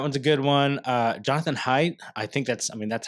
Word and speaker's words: Haidt: Jonathan Haidt, that's how I've pronounced his last name.